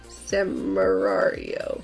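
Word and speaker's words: Samurai Wario: Samarario. Yeah. Samarario. Like Samurai and Mario. Samarario.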